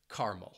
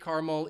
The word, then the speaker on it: caramel: think about it but another pronunciation which is I think becoming more popular in North America just in North America is making it a two- syllable word and dropping that second syllable and omitting that schwas sound and people would just say caramel I say caramel even though I I think many other English speakers would say caramel or caramel so now you know